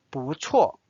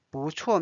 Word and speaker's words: 不错: 不错 This is interesting. 错 means wrong. 不错不 means no. 不错 means good.